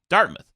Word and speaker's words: Dartmouth: It's Dartmouth, right? Is that how it's pronounced?